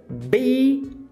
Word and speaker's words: being: Então, being. Você começa com aquele ei longo e aí depois você dá uma reduzida e dá uma relaxada. Então, being. Vai lembrar que NG, você nunca pronuncia o G. Você faz aquele gemidinho sexy.